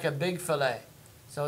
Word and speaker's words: fillet: But right there, fillet. It's French, so the T is silent. Okay? So fillet.